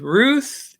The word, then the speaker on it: Ruth: So you've got Esther and rhymes with tooth, Ruth.